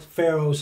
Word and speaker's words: pharaoh: the heart of god and that's exactly what pharaoh's heart was excuse me it's pronounced pharaoh what pharaoh's heart was right there